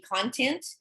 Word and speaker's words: content: context like content um there is another pronunciation for this word which will be content and that's when we're talking about like information like the all of this is the content of the lesson right but in terms